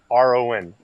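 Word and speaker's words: Padrón: It's Padron, two syllables, right?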